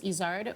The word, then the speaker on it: Izard: My last name, we say Izard, but in French it's Izard, which is a mountain goat in the Pyrenees Mountains.